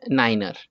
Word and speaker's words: niner: is 7 8 is called 8 9 is niner let's say if you want to let's say